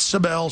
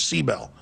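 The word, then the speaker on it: Sibel: seabel that that she says that's how you pronounce it not sael she says seel and I respect how she wants it pronunciated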